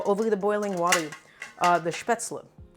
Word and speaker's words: Spätzle: We're making a little spätzle. I think that's how you say it in German. I think the anglicized pronunciation is Spaetzle or Spaetzle. Something like that.